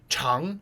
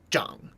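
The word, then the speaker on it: 长: Like, for example, chang means long and zhang means to grow, and it's the same character, but they have different pronunciations.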